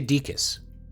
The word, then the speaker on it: Dickus: By the way, that's how you say my name, or at least how I say it. You can say it however you want, but I say Dickus, but nobody tell Fujikuru Uruka.